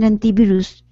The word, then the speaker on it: antivirus: You say there's two pronunciations for this word anti. And this some people say anti. Anti. And some people say anti. Ah, okay. I didn't know that. Both pronunciations are correct.